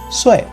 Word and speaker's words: Sui: It's like saying the word sway, but since this is a 4th tone, the sound is pretty similar to if you angrily shout at someone. So it's like, hey, or like, bro. So once again, her name is pronounced as Sui.